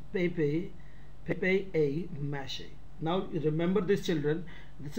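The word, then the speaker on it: papier-mâché: Now see the next, paper mache, pronounced pepe mache.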